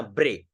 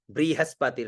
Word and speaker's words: बृहस्पति: मा जस्य बृहस्पति देखो ब में नीचे रे की मात्रा है इसको रे का उच्चारण करते हैं ठीक है ना ब्रे रे ब्रे ब्रे ऐसे रे उच्चारण होना चाहिए ब्री नहीं बहुत सारे इसको ब्री उच्चारण करते हैं ब्री वो अशुद्ध है ब्री ब्री नहीं ब्रहस्पति ना ब्रे ब्रहस्पति रे का उच्चारण हो